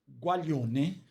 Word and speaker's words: guaglione: E aí o nome da pizzaria vem por e qual gualione, que se escreve guaglione.